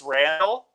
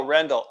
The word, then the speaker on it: Rendell: I've started to add it to my intro because people will go, "Oh, that's Randall." Okay, perfect. No, Rendell.